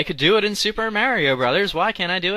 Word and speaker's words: Mario: can't really use that my pronunciation of Mario by the way that's that's me that's actually how I pronounce it I know people make fun of me they tell me it's morio I don't know I can't even pronounce it the way people tell me to but I blame that on my New Jersey upbringing I don't live in